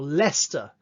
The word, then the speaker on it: Leicester: Think about the city Worcester, Worcester, or Leicester, L-E-I-C-E-S-T-E-R, Leicester.